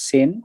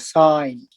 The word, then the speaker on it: sine: Don't read it as sin. This is called sine. Similar pronunciation with this one.